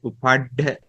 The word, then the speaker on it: Upaḍḍha: This is pronounced as Upaḍḍha.